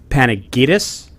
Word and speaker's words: Panagides: guess is it Alex panic-itis very good bingo yeah you know we all say the American Way it's obviously a Greek last name but that is that is the American pronunciation yes pretty cool Alex